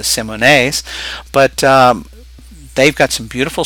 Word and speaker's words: Simone: The Simones, Simonis, that a lot of people call them. Their correct pronunciation is the Simones.